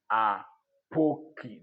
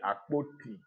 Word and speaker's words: Apoki: This same Apoki that I'm pronouncing slowly, some people can't No, it is Apoki. They will still call me Apoti, Aboki, Akoti, Akoka.